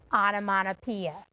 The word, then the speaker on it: onomatopoeia: me are you ready onomatopoeia i have a tricky question for you how many syllables are an onomatopoeia you can clap it out onomata how many syllables if you said six you are correct throughout the cat panda